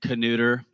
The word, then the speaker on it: Knuter: led by Keith knuter yes that's how you pronounce his name canooter all right for you